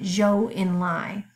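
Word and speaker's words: Zhou Enlai: had other ideas Communist Chinese foreign minister named Jo Enlai spelled Z Hou but we pronounce it judge' like kind of a soft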